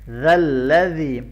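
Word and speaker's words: ذَا الَّذِي: मन ज़ल्लज़ी, ज़ाल को इंतहाई नरमी के साथ पढ़ना है और यहाँ पर ये या मद्दा है, इसको लंबा करना है।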